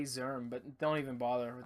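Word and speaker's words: Szirm: your Instagram it's j zerm but don't even bother with that okay uh J J zerm uh one word zerm is spelled s z i r m zerm j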